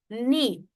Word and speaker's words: knee: The first example K in knee. If you if you pronounce this word it's knee. The K exist of course but the K doesn't have its own sound. K is a silent letter.